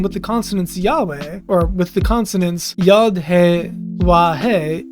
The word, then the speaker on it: Yahweh: Given that the consonants of Yahweh are yad, wah, and that the w in ancient Hebrew is a w or u sound, the second syllable is best reconstructed as we instead of wah because it's harder to do the double vowels on top of the uh the wa. So it's a way, which is way easier to construct grammatically.